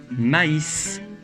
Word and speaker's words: maïs: Mais avec un tréma sur le I, on prononce AI, comme dans maïs.